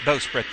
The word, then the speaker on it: bowsprit: It can also be pronounced bowsprit, though, but it's mainly a regional thing.